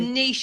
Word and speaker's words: niche: The niche of the better. There's a phrase in America, which is the riches are in the niches. We can't say that because it doesn't rhyme with niche, but it means the same thing.